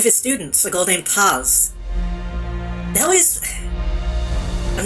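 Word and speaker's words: Paz: actual pronunciation because Mike the Texan in me wants to say Pez but I'm pretty sure it's like pass who had been abducted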